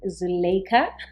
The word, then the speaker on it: Zulaikha: Today we've got the ever so gorgeous and lovely Zulaikha.